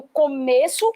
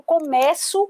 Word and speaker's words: começo: ponto aqui eu tenho as mesmas letras mas as pronúncias Já não são a idênticas aqui eu tenho começo ou são fechado e aqui eu tenho começo com som aberto o fonema aberto então aqui turma nós